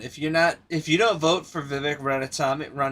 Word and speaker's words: Vivek Ramaswamy: Yo, listen, if you don't vote for Vivek Ramaswamy, I think is how you say his name is, you're stupid.